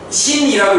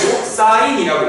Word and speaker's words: 사인: 신이라고 읽으면 안 되고 사인이라고 읽으셔야 돼요.